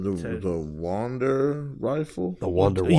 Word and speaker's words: Wunderwaffe: The Wonder Waffle. Yeah, but it's spelled like German, like, so it's like WUNDERWAFFE. Yeah, I think there's an E on there.